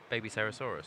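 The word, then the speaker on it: Babycerasaurus: Electing to start with the Soul-Eating Overraptor to search the Baby Cerasaurus. Baby Cerasaurus. Are you going to struggle with this? Wow, that was awesome. I've never heard anyone say that. Baby Cerasaurus.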